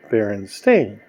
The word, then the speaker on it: Berenstain: know these things are written Berenstein but they're pronounced they're in stain I said oh yeah